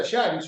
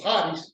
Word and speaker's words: charis: En el Nuevo Testamento la raíz de la palabra gracia es la palabra charis o charis o haris, depende de cómo se pronuncia, que viene también la palabra carisma, o carismático.